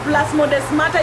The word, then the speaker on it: plasmodesmata: Research about gap junction and plasmodesmata if you are interested, and then come tell me what you think. Plasmodesmata, it is written just the way I'm pronouncing it.